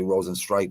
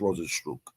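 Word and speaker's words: Rozenstruik: how you pronounce it I used to always say Rosen strike but I'm pretty sure it's Rosen stro I'm pretty [ __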